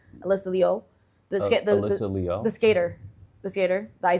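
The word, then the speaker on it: Alysa Liu: You know, everyone says Alisia you say it properly like Alysa Leo the skys the skater.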